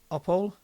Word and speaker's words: Opole: From Opole. Apollo. So the E is pronounced there.